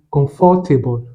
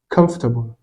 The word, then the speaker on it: comfortable: J'ai dit comfortable avec 4 syllabes et l'un des membres du jury a attiré mon attention sur cela. En réalité, la bonne prononciation, c'est comfortable avec seulement 3 syllabes.